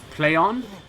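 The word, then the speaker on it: Plaion: Same with like Deep Silver, are now known as Playon, which is spelled P-L-A-I-O-N.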